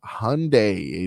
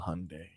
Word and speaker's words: Hyundai: These headlines are brought to you by Doral Hyundai. Doral Hyundai, choose from 1,300 new Hyundai models in inventory like Tucson, Sonata, and Palisade. Remember, when it comes to Hyundai, the great deals are at Doral Hyundai.